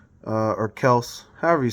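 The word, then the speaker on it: Kelce: Travis Kelsey uh or Kels however you say it uh I don't know I've heard Kelsey so many times now that's ingrained uh but I do hear that it's actually pronounced Kels um I believe they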